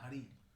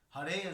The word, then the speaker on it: Hare: See, sometimes we say Hare Krishna. It's not Hari. Hari is something different. Hari is also Krishna. Hare is referring to Srimati Radharani.